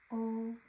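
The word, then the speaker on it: を: O. So the wo is pronounced just o.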